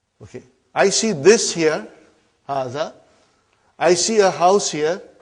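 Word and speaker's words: هذا: See, it is pronounced like Haza. But this alif is not written.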